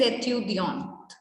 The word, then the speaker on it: étudiant: Ce sont des étudiantes.